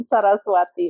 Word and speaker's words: Saraswati: Sarasati.